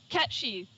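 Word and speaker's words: Cait Sith: I never know how to pronounce this card. Caitsh. How do you say this? Catchy.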